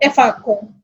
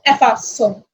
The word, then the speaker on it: effaçons: But when we have O after C, the pronunciation will be co. So if we don't have E here, the pronunciation will be comonco ou efaco.